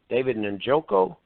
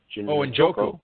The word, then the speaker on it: Njoku: When drafters see some of these rookies, Howard, Evan Ingram with the Giants, how do you pronounce the kid with the Browns? David Njoku? Njoku, sure, yeah.